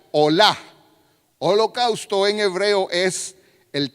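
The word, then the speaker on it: עולה: Entonces, holocausto en hebreo viene o se pronunciaría olá.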